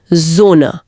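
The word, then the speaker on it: Sonne: डिजोना सूरज एक मिनट सोने नहीं जोना यह तो दूसरा बड़ा ट्विस्ट लग रहा है।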